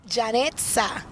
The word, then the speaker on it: Janetza: Janetza.